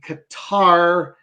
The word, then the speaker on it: Qatar: Like there's a guttural sound for the Q, like a guttural G is the Q sound.